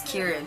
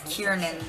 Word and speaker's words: Kiran: loves calling me she can't pronounce Kiran she always says kiernan or isn't and I'm like